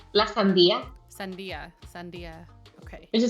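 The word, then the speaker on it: sandía: How do you pronounce it? Lasia. Sandia.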